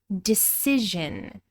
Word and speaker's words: decision: You can decide something, or you can make a decision. Decision. This changes from a long I sound in decide to a short I sound, and we're pronouncing the voiced zh in decision.